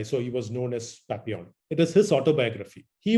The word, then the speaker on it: Papillon: is p-a-p-i-l-l-i-o-n it is it is written as papillon but pronounced as papillon papillon means a butterfly